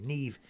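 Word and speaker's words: Niamh: Never mind. Uh Kore is an anglicized spelling of the traditional Irish name Nema. Uh pronounced ne.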